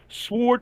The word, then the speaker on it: sword: So the fact that you pronounce the W in sword, I have to give you shit, dude. I'll take that shit. But technically, though, you can say it either way.